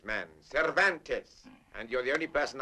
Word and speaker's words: Cervantes: Donkey Hoke by the Spaniard whose name is practically impossible to pronounce. Cvantes man. Cervantes.